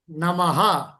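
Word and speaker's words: नमः: அது எப்படி sir pronounce பண்ணணும்? நமஹா.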